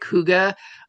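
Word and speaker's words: hygge: And I also saw a lot of folks wanting to set up some specific huga. Um which is the hy ge. It's pronounced huga.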